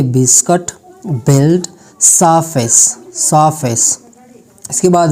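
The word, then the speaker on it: ballet: इफ़ a French word ends in ET, अगर कोई French word होता है और उनका जो एंड होता है वो ET होता है तब टी का जो साउंड होगा वो साइलेंट होगा, जैसे कि बाले, बालेट नहीं बाले.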